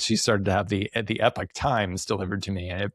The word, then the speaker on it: Epoch Times: But the Epoch Times is kind of, or Epic Times, I think is how they like to pronounce it, is kind of an interesting story.